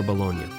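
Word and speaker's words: Bologna: epicurian fantasy somewhere near bolognia that's right I said bolognia it's a real place and if folks around here see it written out on paper they pronounce it a little differently baloney what's this about well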